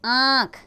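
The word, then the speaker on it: आँख: जैसे 5 आंख, इसका उच्चारण नाक और गले दोनों से किया जाता है, ये ध्यान रखिएगा।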